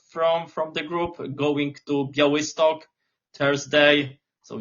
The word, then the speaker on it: Białystok: Yes, so the pronunciation is Jagiellonia Białystok. I know it's quite hard.